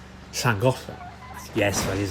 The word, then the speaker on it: Bangor: Um It was up by um a town in North Wales called Bangor. Yes, that is how you pronounce that.